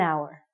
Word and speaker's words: hour: sounds like a vowel because the H is silent we have to say an hour okay you got it you're with me an hour so and we used